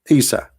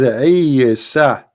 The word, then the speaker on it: Isa: You see, in English today, you are reading Isa, right? Like I, Isa. But this is not how it is in Arabic. It is Isa.